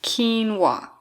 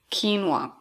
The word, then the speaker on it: quinoa: know how to pronounce it correctly but it's pronounced quinoa quinoa if you don't know what is quinoa this